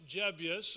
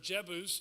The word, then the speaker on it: Jebus: They come to a town, it's Jebus or Jebus, depending on how you pronounce it.